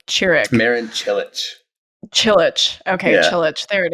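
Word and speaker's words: Čilić: player whose name you're going to have to pronounce. Churik Marin Chilich.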